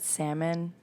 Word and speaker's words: salmon: We have Hi, isn't it weird that salmon is spelled with an L in the middle of it?